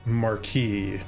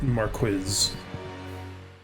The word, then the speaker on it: Marquis: I'm slightly confused cuz normally you hear it pronounced Marquee not marquiz footprints you are not